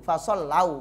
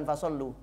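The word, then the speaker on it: فصلوا: Maaf tadi saya bacanya keliru. Fasollau bukan fasollu. Fasollau mongko podo sholat.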